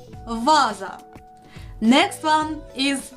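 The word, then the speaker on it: ваза: But with some practice, you will remember it's pronounced as the first sound in a vase, vaza.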